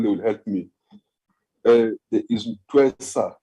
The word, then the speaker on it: Ntwesa: There is Twesa, not sure how to pronounce the surname.